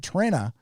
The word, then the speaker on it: Trena: Trena is pronounced like Trend Guthridge for $2.